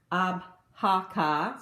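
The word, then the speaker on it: Avoca: avaca company and I found that it is pronounced abaka so I believe that's probably gelic and you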